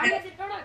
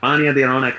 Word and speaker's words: Raniyaan Di Raunaq: Is it Raniyaan Di Raunaq? Is that how I pronounce it? Yeah, Raniyaan Di Raunaq.